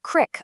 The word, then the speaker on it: creek: A creek in the American South might be pronounced crick up in the North.